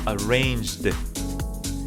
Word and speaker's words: arranged: But when that sound finishes in this j, it changes from arrange to arranged. It's like a D, like a sound of a D in the end.